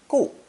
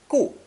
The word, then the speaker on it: 固: Pronounced fourth tone, gu, gu.